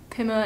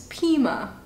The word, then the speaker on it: Pima: I looked it up on Google and that's what Google told me how to pronounce it. I was saying Pima and Pima yesterday. Apparently it's Pima.